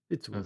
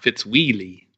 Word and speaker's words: Fitzwilly: Fitzwillie. That's what I figured. Okay. Just making sure it wasn't like Fitzwheelie.